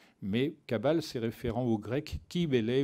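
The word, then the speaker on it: Cybèle: Kabbale différents au Grecs qui Bellay ou kubélé comme on devrait prononcer c'est-à-dire la nature elle-même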